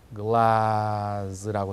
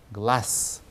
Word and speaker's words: глаз: 그 다음에 우리의 눈을 얘기할 때 러시아에서 이제 글라즈라고 쓰는데요. 쓰여 있기는 물론 글라즈라고 쓰여 있지만 그 z로 끝나기 때문에 그 z는 짝을 이루는 무성자음인 s로 발음이 난다. 그래서 눈은 글라즈 그러지 않고 글라스 이렇게 발음된다는 얘기입니다.